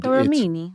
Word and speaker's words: Borromini: And Borromini. It's Borromini. But he said don't accentuate it too much, otherwise it sounds like you're poking fun at the language.